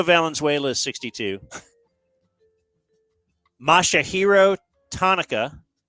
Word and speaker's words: Tanaka: is 62 mashah hero Tonica rhymes with Hanukkah is 34 Coco Crisp